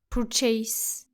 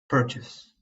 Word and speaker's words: purchase: Don't say it like this. Purchase. It is actually purchase. purchase.